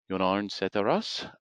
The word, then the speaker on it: Jon-Arne Sætterås: And today, I am joined by Jon-Arne Sætterås, our Vice President of Innovation. Jon-Arne, are you there? Hi, or Jon Arne Sætterås, as it's pronounced in Norwegian.